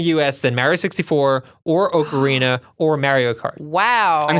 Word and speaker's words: Ocarina: Wait, you say Ocarina. The O in Ocarina, but you say the O in Mario.